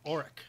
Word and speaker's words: Auric: Auric.